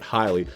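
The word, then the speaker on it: Haile: I think that's how you say it, Highly. It's spelled H-A-I-L-E. I looked it up on dictionary and it said the pronunciation is Highly, but I've seen people say that it's Haley before and all kinds of other ways, but I'm gonna trust my dick. gonna trust my dictionary.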